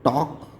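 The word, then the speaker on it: talk: तो अगर ये स्ट्रक्चर है तो आपके वर्ड में एल साइलेंट हो जाता है, जैसे कि टी ए एल के। हम इसका प्रोनाउंसिएशन करते हैं टॉक।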